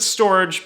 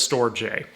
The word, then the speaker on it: STORJ: the ticker s-t-o-r-j uh they pronounce it storage but it looks like it says store j so storage is a